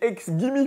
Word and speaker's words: XGIMI: les nouvelles productions signées ex Gimme puisque ça se prononce comme ça dans la version anglaise et j'avoue que ce